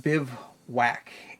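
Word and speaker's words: Bivouac: collection all right this is the bivwak it's pronounced Biv whack and it is not exactly whack it is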